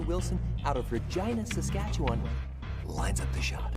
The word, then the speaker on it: Regina: w wilson out of regina saskatchewan lines up the shot this form looks good that's why regina rhymes with fun he is the